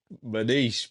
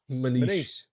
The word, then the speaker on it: Maniche: Again, is that how you say his name? Maniche. It is Maniche.